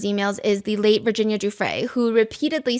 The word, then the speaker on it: Giuffre: One netizen thing that people have pointed out about this statement is it sounds wishy-washy, and second of all, she keeps pronouncing Giuffre as Guffrey.